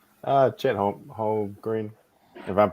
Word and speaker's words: Holmgren: Chet Holmgren. If I'm pronouncing his last name wrong, right?